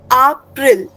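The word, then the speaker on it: April: English as इट is written in German only pronunciation in German will be different. In German you will read it एज़ अप्रिल।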